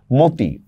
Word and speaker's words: মতি: যেমন দেখেন আমি একটা শব্দ বললাম মতি। মতি অধনির পরে রসই আসছে। এজন্য কি হবে? মকার ম তরসকারতি মতি আর শব্দের প্রথমে অধনির